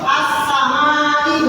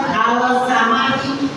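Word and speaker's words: السماء: Jadi huruf alif lam itu jangan dibaca kelasan, ya, jangan dibaca kelas. Contohnya seperti ini, Ar-Rahman bukan Al-Rahman bukan, Al-Rahman bukan, ya. Atau As-Samai bukan Al-Samai bukan.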